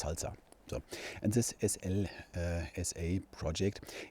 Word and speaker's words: SLSA: So the first project I'm mentioning here is Slsa, and it's I can't remember the acronym, so but it's pronounced Slsa.